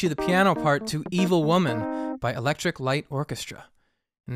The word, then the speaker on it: Evil Woman: right quick question guys I used to think this song was called midevil woman right because if you hear the chorus evil there's an extra syllable up front you think it's like Med but it's not it's Evil Woman um so I'm wondering